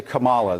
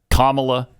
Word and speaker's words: Kamala: and what is it's Kamala is that how normally used to say Kamala it's Kamala it's Kamala not Kamala not Kamala Kamala Kamala